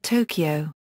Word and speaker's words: とうきょう: For example とうきょう (lit. toukyou) is pronounced 'Tokyo', and せんせい sensei is 'teacher'.